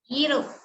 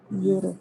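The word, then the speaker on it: Europe: நினைச்சு நெக்ஸ்ட் இன்ட்ரஸ்டிங்கான வார்த்தை ஈரோப் எது சைலெண்ட்ங்க யூ யூ யூ யூ இல்ல இ சார் இஸ் யூரோப் யூரோப்னு சொல்லணும் யூரோப் இல்ல யூரோப் நம்ம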